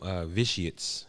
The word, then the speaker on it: Vitiates: Yeah, the name of the film, Vitiates.